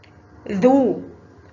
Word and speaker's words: ذ: ذو حرف الذال فوقه ضمة ينطق ذو.